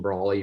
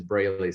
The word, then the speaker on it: Brawley: are dfr's um brawley from ut work though um antonio you did a great job in pronouncing my name everybody says braylee says probably so that's